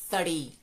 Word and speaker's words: three: sino como django y aunque el número 3 muchas veces lo pronunciamos como te pedí lo cual quiere decir árbol el 3 va a ser en cambio con el sonido th tari tari te dejo por